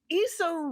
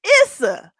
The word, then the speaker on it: Issa: Issa Rae sat down with her interviewer, Glenda McNeil.